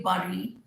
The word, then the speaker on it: bury: I used to say bury, but then some years ago, I realized when I was searching and upgrading myself that bury is wrong. It's bury. Bury.